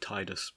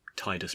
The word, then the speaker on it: Tidus: is that if we were to suppose that titus does inhabit water it would make sense as